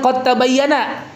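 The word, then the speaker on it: قَدْ تَبَيَّنَ: Nah, ini kan qad tabayyana ya, qad tabayyana. Nah, itu huruf dalnya itu melebur sempurna ke huruf ta ya, idgam kamil.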